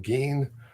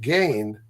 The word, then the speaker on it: Gein: That's See, a the correct pronunciation of his name being Geen, but if you pronounce it Gain, yeah.